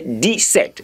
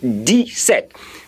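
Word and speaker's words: dix-sept: the sound I'm hearing, I say D set, D set, meaning D, I, then set together there, a set of something. It could be a set of anything. Join it together there, you have D set.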